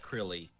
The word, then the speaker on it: Krile: you're mino mino's right it is pronounced crilly um so thank you